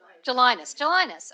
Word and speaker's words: Gelinas: Commissioner Polly Trottenberg, and our debaters are Nicole Jelinas and our own Richard Brodsky. Did I pronounce that wrong? Okay. Gelinas? Jelinas, okay.